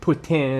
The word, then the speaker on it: poutine: we're famous for a poutine. Uh, a poutine is a French word. Um, putin is how they would pronounce it in French, but it is fries.